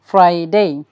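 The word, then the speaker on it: Friday: class we are gonna learn how ক্যান we pronounce seven নেমসলি Saturday Saturday Sunday Monday Tuesday Wednesday Thursday ফ্রাইডে Saturday Sunday Monday Tuesday Wednesday Thursday ফ্রাইডে এখানে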